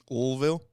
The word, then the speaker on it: Louisville: So I believe they pronounce it Louisville.